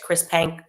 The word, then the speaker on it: Chris Penk: Minister, it's Chris Penk. Okay, perfect. Chris Penk basically said, we're reversing this ban.